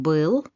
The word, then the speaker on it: был: Dans la mesure du possible, essayez de ne pas substituer ce son par le son I, parce que, comme vous pouvez voir avec ces deux exemples, ça peut changer le sens des mots que vous prononcez.